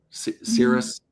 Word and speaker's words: Sirius: of like remember remember Sirius radio? Cirrus, that's how you say it.